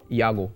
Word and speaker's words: Yago: and she said that it wasn't ago it was Yahoo I was a full